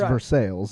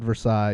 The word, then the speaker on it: Versailles: you know it's versailles it's versailles but it's for sales exactly yeah yeah if you call it versailles you'll get smacked from someone from for sale